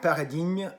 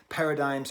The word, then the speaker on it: Paradigmes: so the first track paradigm why am i having such trouble pronouncing this word okay because gn makes a niu sound but gm makes no difference sound so like i'm saying